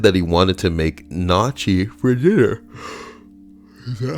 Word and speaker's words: gnocchi: It's pronounced Gnocchi.